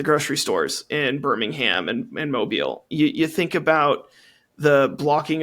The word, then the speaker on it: Mobile: I've been to Mobile. I've taught students who are directly affected by these policies. Sorry, and I had the urge to be like, it's pronounced mobile.